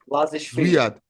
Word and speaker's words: Lazishvili: And then, how do you pronounce his first name? Zavad? Lazishvili.